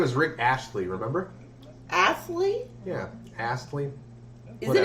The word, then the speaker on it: Astley: Rick Astley? Yes. What about him? How do you pronounce his name? I just did. No, it's Astley. A-S-T-L-E-Y.